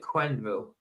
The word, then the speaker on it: Quenville: So it's more like Quenville. So French pronounce Q like a K. Quen. So it's so it's Quenville.